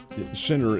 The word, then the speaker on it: Sinner: That does not involve the number one men's player, Joaquin, and it's Sinner is how he pronounces his name, an Italian player, and he is really, really good.